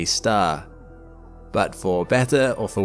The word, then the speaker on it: Sagittarius A*: Now, the Milky Way has its own supermassive black hole right in its centre, too, called Sagittarius A* (pronounced “A-star”).